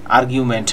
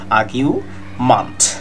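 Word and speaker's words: argument: তাহলে উচ্চারণটা আমরা আর্গিউমেন্ট বলবো না, আমরা উচ্চারণটা বলবো আগিউ মান্ট, ম্যান্ট বলবো না, আগিউ মান্ট, যার বাংলা অর্থ হচ্ছে যুক্তি।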